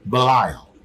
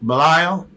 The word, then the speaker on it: Belial: The word I'm pronouncing, Belial, is actually pronounced Bel-Ayah-Al, okay?